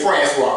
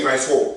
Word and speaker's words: Francois: el salvadorian friend right right right and so my last name francois right he can't say it right he say france so yeah so when